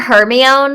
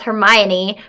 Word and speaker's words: Hermione: the Harry Potter books as a child, and we didn't know how to pronounce Hermione because Hermione the E. is from Shakespeare. Hermione. But if I read Shakespeare, I would have still pronounced it Hermione.